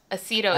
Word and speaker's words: Acido: No, not Reseda. I said Acido. Acido is how it's pronounced.